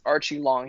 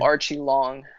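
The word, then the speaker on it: Aori Qileng: cool dude a great journalist his name is pronounced archie long he said okay yeah yeah so uh he has no last name i guess in china it's just like one long name okay so archie long it actually sounds kind of american though yeah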